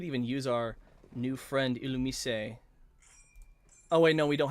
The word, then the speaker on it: Illumise: The Illumise, or Illumise, yeah, that's how you pronounce it.